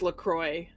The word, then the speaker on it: LaCroix: Actually, if you go to their website, Marin will say, it says that they want it to be pronounced LaCroix because See? that's where it's made.